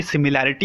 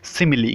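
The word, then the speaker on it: simile: की जाएगी वो है सिमिली। गाइज अक्सर सिमिली को सिमिल भी प्रोनाउंस किया जाता है, तो डोंट गेट कन्फ्यूज।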